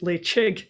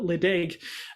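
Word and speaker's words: Ledaig: um off the coast of scotland and it's pronounced lay chig in gaelic and you know in regular english we'll call it ladaig but this is a very very lovely whiskey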